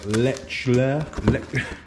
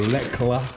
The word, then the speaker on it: Lechler: paint schemes turn up i've gone for a lecture or lecla however you pronounce it a little 150ml scheme lechler i would say is how i pronounce that uh no flight cases